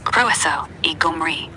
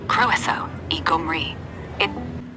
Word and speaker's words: croeso i Gymru: Pronounced croeso I Gymru. Try it out. Croeso I Gaerdydd and croeso I Gymru.